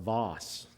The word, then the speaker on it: Vass: here Charlie was here he'd say that it's pronounced Voss that's how his GPS pronounces it one of